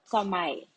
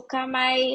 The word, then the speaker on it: Kamai: So the brand that we're launching is actually called Kamai. So Kamai is spelled as Kamai. So it was derived from the word kamaimas from Japan, which means care.